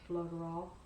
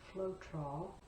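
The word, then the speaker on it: Floetrol: to one three parts floaterall one part paint and i'm sure it's probably flotrol the south we always add an extra syllable i try to catch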